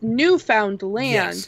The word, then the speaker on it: Newfoundland: Yeah, so to kind of like get us like a weird segue, there's a place here called, we pronounce it Newfoundland. It's Newfoundland.